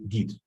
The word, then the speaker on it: git: stuff like that so we always say git and commit has a